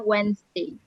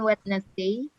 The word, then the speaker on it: Wednesday: Ya, jadi cara bacanya Wednesday, bukan Wednesday. Jadi tulisannya memang Wednesday, cara bacanya Wednesday. Wednesday.